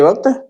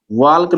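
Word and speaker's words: walk: लिखते वक्त लिखेंगे स्पेलिंग लेकिन पढ़ते वक्त नहीं पढ़ेंगे।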